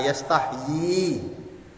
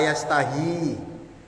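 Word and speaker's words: يستحيي: Ya, kalau kita membacanya la yastahyi. Tapi kalau imam-imam lain ya, ada yang membaca la yastahi. Kalau kita la yastahyi.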